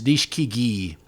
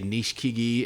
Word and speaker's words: Nishikigi: You know how the Japanese kind of truncate some of those vowels. You say Nishikigi, and then you hear other guys pronounce every vowel.